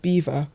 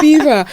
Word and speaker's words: Belvoir: Apparently it's pronounced beaver. I recently found out. I haven't called it that. Beaver. Apparently it's called Beaver.